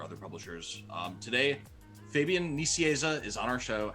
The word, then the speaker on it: Nicieza: freelance work for other publishers um today fabian nissieza is on our show how are you doing